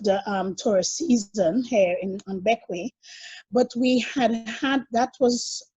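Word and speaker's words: Bequia: It is French, but it's pronounced Beckway, as in Beckway, like to beckon.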